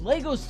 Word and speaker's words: Lego: We build Legos together. The plural is pronounced Lego.